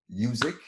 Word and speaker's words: Yuzuik: make some noise from Marc music Marc music rhymes with music that's what he says is this way to remember it yeah good well thanks